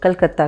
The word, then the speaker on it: कोलकाता: 2001 तक कलकत्ता का आधिकारिक नाम कलकत्ता ही था। इसके बाद बंगाली उच्चारण से मेल खाने के लिए इसका नाम कोलकाता विस्तृत किया गया।